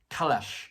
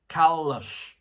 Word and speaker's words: Kalush: Kulash is a Kalash. Sorry, Kalush. Kalash. It's not lash. Lush. Kalush.